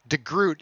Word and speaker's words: DeGroot: I've been saying DeGroot. Does that work? Yeah. Perfect.